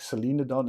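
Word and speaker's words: Solenodon: come across it again my mnemonic is celine the young so for me it's the canadian singer celine dion and that way of pronouncing it that i remember selena don celine dion yeah that's just uh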